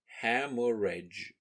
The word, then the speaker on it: hemorrhage: meaning after bleeding peace be careful how you write and say this term ham or rage as there are many silent letters the number 11 11